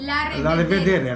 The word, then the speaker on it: La revedere: La revedere. La revedere. La revedere. La revedere. In Italian, la revederci. Oh, la revederci. Italia. La revedere. Romania, la revedere. La revedere. La revedere.